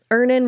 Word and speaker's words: Earnin: Download Earnin on the App Store or Google Play, spelled like earning money without the G.